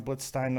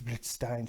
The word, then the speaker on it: Blitzstein: I'm sure I said it wrong, Blitzstein. And my wife's like, it's Blitzstein.